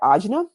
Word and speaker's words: ajna: And you pronounce that ajna for the third eye chakra.